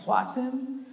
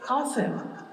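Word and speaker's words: Qasem: So like, I think Mitch McConnell called him like Qasim, and it's like, it's Qasim.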